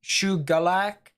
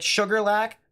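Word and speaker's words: Shuqualak: in the chat that it might be pronounced like shoe galac so like with a g instead which kind of makes sense a little bit so like sugar lack but like sugarland sugarlack sugarlack yeah ish yeah i mean that's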